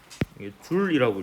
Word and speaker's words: 줄: 이거를 줄여서 J라고 쓰고 줄이라고 읽습니다.